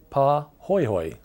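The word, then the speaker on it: pahoehoe: outer surface like that is called PA hoyhoy lava it's spelled p a h o h OE H OE and it's very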